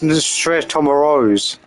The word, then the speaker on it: Snezhnaya: Oh, it's pronounced Snezhnaya.